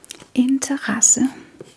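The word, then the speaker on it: interesse: And it is actually pronounced quite clearly.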